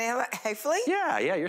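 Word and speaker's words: Heffley: Chris, you're also voicing Frank, am I saying it Hayfley?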